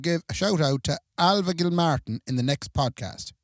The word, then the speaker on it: Ailbhe: There's nothing like the name Alva when you look at it. Beautiful name, Alva. AILBHE. Yeah, gorgeous How are name. you supposed to pronounce that if you didn't know it was Alva? Elbaha.